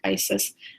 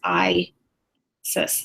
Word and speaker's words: Isis: Isis and I had I thought it was maybe saying it wrong some kind of ironic Isis but how you pronounce it is I says so be honest with